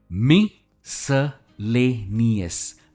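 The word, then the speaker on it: miscellaneous: सबसे पहला वर्ड काफी बड़ा वर्ड है, मिसलेनियस, मिसलेनियस। से it with me, मिसलेनियस। Stress ले पर है।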